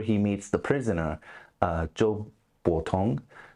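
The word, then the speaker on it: Zhou Botong: meets The Prisoner uh Joe botong I believe is how you say his name um could have the um tones wrong there but uh he's my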